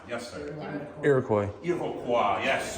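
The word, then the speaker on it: Iroquois: Iroqua. Yes. The French pronunciation.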